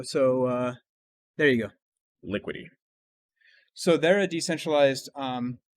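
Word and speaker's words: Liquity: so one is called liquidy and how do you spell that one l i q u i t y so like liquid did it like like liquidity but without the d okay part so lu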